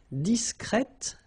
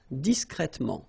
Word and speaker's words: discret: hear the difference between the masculine okay you're pronouncing the T okay complet complet disc discret discret okay so one more time disc discret discret